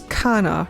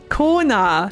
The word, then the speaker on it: Koana: I know it's spelt like Koana, but I'm pretty sure it's just pronounced as Kana, right? I know this. Kona, thank you. That's why it didn't sound right.